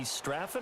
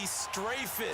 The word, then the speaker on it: Strafen: It was held in mid-December, and your winner, I.B. Straffen, or is it I.B. Strafen? You've got the pronunciation guide. I.B. Strafen.